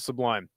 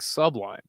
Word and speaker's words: Sublime: I had some friends growing up that would say it like sublime. And I was like, what the is wrong with you? Stop saying sublime. It's sublime. It's all one flowing word. It's not sublime.